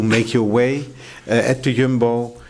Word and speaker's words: Jumbo: your way at the Yumbbo. You said jumbo. Oh yes, there you go. Correct pronunciation.